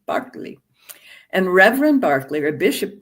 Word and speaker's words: Berkeley: England, an Anglican bishop whose name is pronounced George Barkley, if you're British, not Berkeley, Barkley.